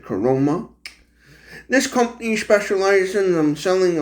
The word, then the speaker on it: Caroma: called the coroma that from my understanding that's how they pronounce it coroma this company specializes I'm